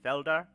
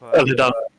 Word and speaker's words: Felidar: This is a Felder, and sitting on top of Felidar. Felidar, even, sorry, yeah. Is that how you pronounce it? Yeah.